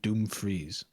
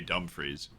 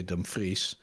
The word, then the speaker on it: Dumfries: he keeps on the this commentator keeps on saying Doom freeze like he's lit reading it a bit too literally I think that's how he thinks it's pronounced in Dutch it's definitely not yeah but he definitely thinks it's doomfreeze he's like how would a European say Dumfries and he just goes with doomfrey's like oh what a fish